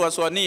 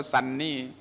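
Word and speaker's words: Sunny: มัน ทำ เหมือน ตัว โซนี่ เลย เขียน ทุก อย่าง เหมือน กัน เลย แต่ พอ อ่าน ดู แล้ว เพื่อน มา ทัก เนี่ย มัน ไม่ ไม่ ได้ อ่าน ว่า โซนี่ มัน อ่าน ว่า ซันนี่ ตัว U อ่ะ ตัว ยู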